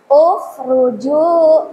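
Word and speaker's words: اُخْرُجُوا: Ukhruju. Kenapa? Kenapa dibaca dhammah? Karena huruf ketiganya berharokat dhammah.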